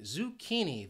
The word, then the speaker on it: zucchini: word is zucchini zucchini this word has three syllables and the stress is on that second syllable that key and that's where it confuses people because of this spelling that that CCH just has that key sound zucchini zucchini you could